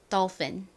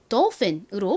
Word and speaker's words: dolphin: dolphin. 미국식 발음으로는 이 O가 O 발음보다는 아에 좀 더 가까운 발음이 나는데 dolphin이라고 하나, dolphin이라고 하나 뭐 큰 차이는 아니어서요. 그냥 dolphin으로 발음해 주셔도 좋습니다. 발음 연습해 볼까요?